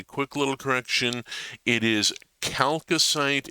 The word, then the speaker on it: chalcocite: It is chalcocite and chalcopyrite, hard CH like chaos because of the Greek root.